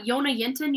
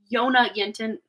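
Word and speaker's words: Jonna Jinton: of um seeing uh Yona yenton you know who she is she's here on YouTube I almost said Facebook for some weird reason maybe she's on there too um it's spelled j o n n a j i n t o n Yona yenton um she's in Sweden um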